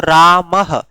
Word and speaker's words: रामः: अच्छा एक बात आप बताओ, जैसे हमने लिखा राम लिख के विसर्ग लगाया, तो आप इस विसर्ग का उच्चारण कैसे करते हो? ह की तरह करते हो, यानी इसका उच्चारण करते हो रामः, रामः, यानी विसर्ग का